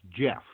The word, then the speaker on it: Gef: study yeah what its it's pronounced Jeff like you know jelly yeah yeah I suppose